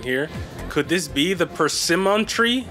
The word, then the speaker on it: persimmon: Could this be the persimmon tree? Right, that's how it's pronounced, persimmon? Persimmon? No, persimmon, because there's two M's.